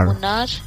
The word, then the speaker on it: Munnar: One name I can suggest, Munnar. It's spelled as M-U-N-N-A-R.